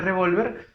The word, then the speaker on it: revólver: vocal y por último la palabra revolver a ver digamos de golpe revolver en este caso lleva tilde porque lleva tiene revólver porque terminen ere y la r es consonante diferente a ns o vocal muy bien analizado este